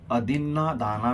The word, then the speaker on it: अदिन्नादाना: करताना खूप चूक करतात ते म्हणतात की अधिन दाना विरमणी सिखा पदंग समाधियामी यातला दिन हा या ठिकाणी दाना असा शब्द पाहिजे अधिना दाना वेर मणी